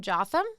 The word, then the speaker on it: Jotham: Jotham. Jotham. That one. See, this is why I said she reminds me of her. Think of Gotham, but Jotham.